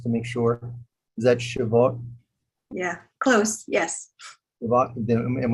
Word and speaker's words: Shavuot: Is that Shavuot? Yeah, close. Yes. Shavuot? Am I pronouncing that right? I'm sorry. Shavuot.